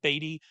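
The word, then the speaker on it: Badie: to activate Tyler baddy I don't batty um he should pronounce it baddy Tyler please do that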